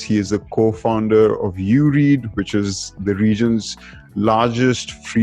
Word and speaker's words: Ureed: So previously, like a couple of months ago, we used to pronounce it Ureed, but we realized that was a major issue when it comes to how people read it.